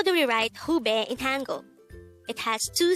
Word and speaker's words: 후배: word number 173 pube this is pronounced as a two-syllable word the first syllable is who the second syllable is pronounce it with me the word hubei is the opposite of